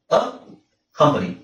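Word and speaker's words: accompany: okay next ಅ ಕಂಪನಿ ಅ ಕಂಪನಿ ಅ ಕಂಪನಿ ನೋಡಿ ಇಲ್ಲಿ ಸಿ ಒಂದು ಸೈಲೆಂಟ್ ಆಗಿರುತ್ತೆ ಸಿ ಸೈಲೆಂಟ್ ಆಗಿರುತ್ತೆ ಓಕೆ ಇಲ್ಲಿ ಡಬಲ್ ಕೆ ಸಿ ಕೆಳಗೆ ಒಂದು ಕೊಡೋದಿಲ್ಲ ಸಿ ಒಂದು ಸೈಲೆಂಟ್ ಆಗಿರುತ್ತೆ ಅ ಕಂಪನಿ ಆಯ್ತಾ ನೆಕ್ಸ್ಟ್ ಅ ಕಂಪ್ಲಿಷ್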